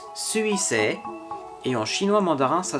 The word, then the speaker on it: 水星: En japonais, ça se prononce Suisei, et en chinois mandarin, ça se prononce Shoixing.